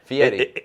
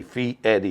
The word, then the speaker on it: Fietti: Which, by the way, it's Fietti. Yes, it's Fee and then Eddie. Fee Eddie.